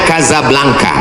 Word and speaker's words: Casablanca: kuliah nama negaranya Maroko ibukotanya tulisannya Casablanca cara bacanya Kadzab langka Kaza artinya rumah belangka